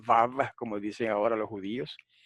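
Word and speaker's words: וָו: Uno de los detalles es que siempre pronuncian la wow como wow, no dicen vav, como dicen ahora los judíos.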